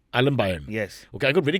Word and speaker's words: Aalambayan: Aalambayan. Aalambayan.